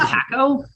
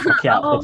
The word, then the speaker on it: Pacquiao: Is it Paco? No, it's Pacquiao. It's Pacquiao. Oh, Pacquiao. Okay. Okay. Thank you for the correct pronunciation.